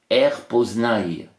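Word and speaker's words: R'POSNY: P O S N y et ça se prononce rpnaille alors pour écrire la phonétique c'est a i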